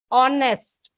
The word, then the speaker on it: honest: Y sound comes but here H is silent so you get honest o sound and sound